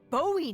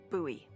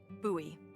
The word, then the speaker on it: Bowie: out this huge Rusty Bowie knife it's actually pronounced buoy what no it's like the last name like David Bowie different last name buoy are you just messing